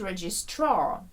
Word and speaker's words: registrar: Третя група – a specialist registrar. Наголос іде на останній склад registrar, в британській англійській, до речі.